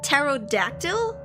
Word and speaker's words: pterodactyl: skull SK skull Danger p is silent pterodactyl it's not pterodactyl I've